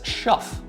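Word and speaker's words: Schoof: called dick dick which in English his last name would be pronounced as schu yeah yeah yeah yeah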